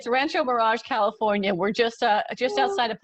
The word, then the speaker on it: Rancho Mirage: I feel like I might have not pronounced it correctly. It's Rancho Mirage, California.